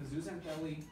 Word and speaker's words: zooxanthellae: And they do photosynthesis with the help of the zooxanthellae, the dinoflagellates living inside of them.